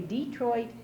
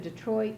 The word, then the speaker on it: Detroit: and we say it because English is a Germanic language. It came from the Anglo-Saxon times, and in German you emphasize the first syllable of the word. So we say Tennessee and Detroit because that's the accepted way.